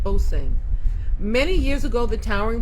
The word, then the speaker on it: Osing: It's pronounced Osing.